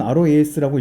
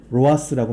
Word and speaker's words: ROAS: 스펜드 약자로는 roas라고 합니다 미국 사람들은 roas라고 읽어요 근데 우리나라에서는 로하스라고 많이 읽더라고요 자 광고 지출 대비 수익률이